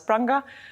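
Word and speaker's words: Prange: It's called Pronge. French people would pronounce it as Pronge. I think German people as Pranga, American, US, UK people as Pronge.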